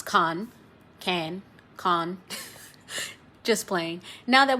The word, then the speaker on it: Cannes: khan is definitely silent so do not say canis or cans but rather simply can can with the famous